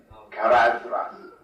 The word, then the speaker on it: Caradhras: Keled Zaram, Kibil Nala, Caradhras, that is voiced th as in then, not voiceless as in thin. Caradhras.